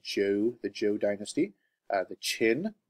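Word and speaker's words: Zhou: I know it says zh0 but it is pronounced Jew the Jew dynasty the Qin Dynasty this is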